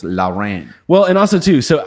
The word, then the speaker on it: Lawren: w r e in so law Ren okay not boring so you should put the little thing and it would be two syllables Lao ran well and also too